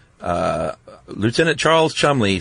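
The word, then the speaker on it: Cholmondeley: Charles C H O L M O N D E L E Y pronounced Chumley. Yeah. And apparently when he met people he would say uh Lieutenant Charles Chumley.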